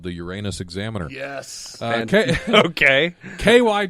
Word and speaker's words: Uranus: of Uranus which is pronounced the way any self-respecting class clown would say it Uranus it's along historic route